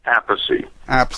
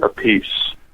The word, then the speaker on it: Appice: pronounce your last name I pronounce it aathy mine pronounces it a piece he used to say aathy and then he changed it to a piece when he started playing with Ron Stewart and from then on